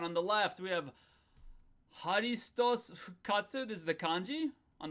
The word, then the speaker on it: ハリストス復活: That's because we don't necessarily pronounce all of these letters. So the pronunciation is more like haristos fukatsu.